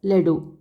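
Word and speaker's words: Ledoux: theatre of बसान कन यह इनका नाम है क्लड़ निकोलस लेड अक्सर जो पीछे का एक्स होता है वह साइलेंट ही रहता है इसको प्रोनाउंस नहीं किया जाता फ्रेंच में फिर क्वेश्चन नंबर 26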